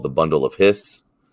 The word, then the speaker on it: His: called the bundle of hiss i know it's it's spelled his but it is pronounced hiss it's the bundle of